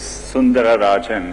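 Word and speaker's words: Sundararajan: It actually was Sundara Rajan. No one can pronounce it.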